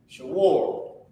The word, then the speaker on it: Shawar: Oh, damn, I need to put how you pronounce it. Shawar. Shah, W-A-R, war.